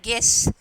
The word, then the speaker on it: guess: So, first they have given guess. Second one, biscuit. So, U is the silent letters.